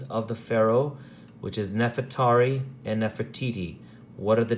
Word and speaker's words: Nefertari: neverett uri neverett theory or we pronounce it as Nefertari neverett re see how it divides eery re just it's pretty much the same we pronounce it differently so Nefertari which means